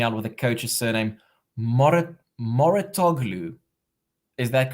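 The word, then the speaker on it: Mouratoglou: Ben helping me out with the coach's surname, Moratoglu. Is that correct? Am I pronouncing it correctly?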